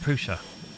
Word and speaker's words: Prusa: It's really hard for me not to say Prusa. It is pronounced Prusa. As per the filament box, look, see? It's not actually, it's just that's the closest I can do.